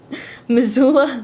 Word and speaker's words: Missoula: Is it Missoula? Am I pronouncing that right? Missoula, Montana.